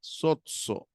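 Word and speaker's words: σῴζω: pisteuo pisteuo salvo salvo soo soo noten que hay una yota suscrita no pero que no se pronuncia soo muy bien Este es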